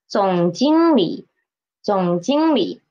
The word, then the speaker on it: 总经理: And for this, how to read the third tone when it is in a disyllabic word? At the end of a syllable, how to read it? It is a half third tone, right? So, 总经理, 总经理. The li is a half the tone, 总经理.